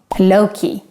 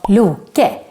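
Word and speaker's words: Loke: then we have another character whose name is pronounced loki wrong loki in swedish he is called lu ke and not loki and yes he is the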